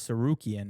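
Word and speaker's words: Tsarukyan: His last name is Serukian. It's spelled like T S A R.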